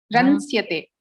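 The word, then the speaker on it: रंस्यते: Makaram api bhavati vadati. Makaram na vadatu. Ramsyate. Ramsyate. Aha, makaram na. Ransyate.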